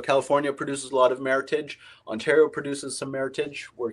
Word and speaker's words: Meritage: martha meritage often pronounced meritage but the correct pronunciation rhymes with heritage and this is a